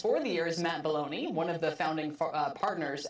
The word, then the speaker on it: Belloni: the year is Matt Belloni, one of the founding partners at Puck. Did I say it right, Matt? Welcome. It's Belloni, but that's okay.